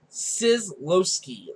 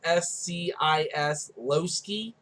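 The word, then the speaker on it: Scislowski: Starting off, the Yellow Ranger will be played by Jacqueline Sislowski. That's how I'm going to say her name. It's Sislowski. But she will be our Yellow Ranger.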